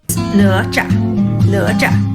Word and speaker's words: Nezha: only reason we think we know how to pronounce Nezha. And we might even be incorrect. If so, blame her. Nezha.